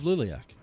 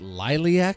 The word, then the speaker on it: Liliac: a fan now of Liliac. And now I'm saying the band's name correctly. I was pronouncing it Liliac a few times.